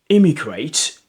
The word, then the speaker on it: immigrate: So immigrate, immigrate, immigrate, immigrate, and immigrate, emigrate, immigrate, emigrate, and immigrate. So it begins with E is emigrate, emigrate, emigrate, and begins with I is immigrate, immigrate.